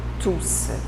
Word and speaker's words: tous: Et tous, comme pronom, on prononce le S. La prononciation, c'est tous. D'accord?